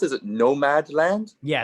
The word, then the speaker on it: Nomadland: How do you pronounce it? Is it Nomadland? yeah, it's Nomadland.